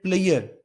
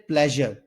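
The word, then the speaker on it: pleasure: mistake जो करते हैं वोह हम कहते हैं प्लेयर इज ऑल माइन तो यह प्लेयर नहीं होता इसको प्रोनाउंस करते हैं प्लेजर प्लेजर इज all mine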